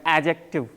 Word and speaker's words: adjective: मेरा सुन लें फिर आप लोग बोलिएगा adjective. एक बार और सुने। adjective. D नहीं बोला हूँ मैं। D is silent.